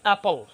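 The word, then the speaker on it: apple: আচ্ছা, আরেকটা আছে অ্যাপল, আপনারা বলেন কি আপেল, হবে অ্যাপল, অ্যাপল। আরেকটা উচ্চারণ বলে দিই, আপনারা অনেকেই বলেন আমেরিকান, নট,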